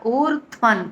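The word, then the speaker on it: ఊర్ధ్వం: అత ఊర్ధ్వన్ అత ఊర్ధత్వన్ ఊ దీర్ఘం ఊ ఎలా అంటాం కదా ఊర్ధ్వన్ ధ్త్వన్ ధ్వన్ ఒత్తు ధ ప్లస్ వత్వ అండ్ ప్లస్ అనుస్వర ఉచ్చారణ పొల్లు న కింద పలకాలి అత ఊర్ధ్వన్ నసౌషయః నసౌ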